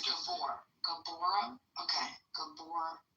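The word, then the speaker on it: Gábor: Is that how you pronounce it? Tell me the truth. It's Gabbor.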